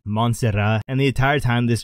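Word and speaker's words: Montserrat: wife's friends name is monserat but it's actually pronounced monserat and the entire time this girl fought last the whole commentary Booth was calling her Monster Rat I don't know I find that funny and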